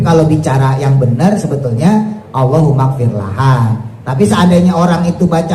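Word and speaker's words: اللهم اغفر لها: Tapi kalau bicara yang benar sebetulnya Allahumfir laha. Tapi seandainya orang itu baca Allah magfirlahu pun bacanya damirnya kata gantinya laki-laki itu sudah mewakili.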